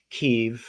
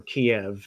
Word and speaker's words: Kiev: Historically speaking, we come from a land called Kiev or Kiev, depending on when it's being pronounced.